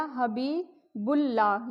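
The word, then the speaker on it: حبیب اللہ: यह बन गया हबीबुल्लाह। यहां भी अलीिफ और लाम लाम साइलेंट है। बे को पढ़ेंगे लाम के साथ।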